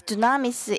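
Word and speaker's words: δύναμις: of the holy spirit is pronounced in uh as dunamis in great it has great power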